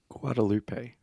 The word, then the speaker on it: Guadeloupe: that your research has not uncovered how to pronounce the place. It says things like, hold on. It says It's Guadeloupe.